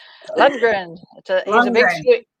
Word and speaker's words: Lundgren: Well, my husband's cousin is Dolph Lundgren. So does that tell you? Lundgren.